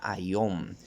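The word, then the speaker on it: αἰών: Y la palabra que aparece ahí es una palabra que se pronuncia ayom en lo que es el griego, pero puede significar muchas cosas.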